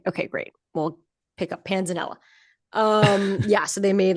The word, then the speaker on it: panzanella: Yeah, but it's like Italian, so it's probably Panzanella, right? But then could be Panza. I've never heard it pronounced Panzania. No, I'm going with Panzanella.